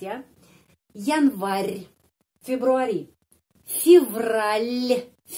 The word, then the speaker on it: Февраль: Januari, Februari, Февраль, l. Я di sini ada tanda pelemah yang melemaskan huruf L. Февраль.